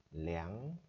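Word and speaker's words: 两: 200 thì chúng ta có cách đọc lẻng bảy. Tại sao người ta không đọc là er bảy?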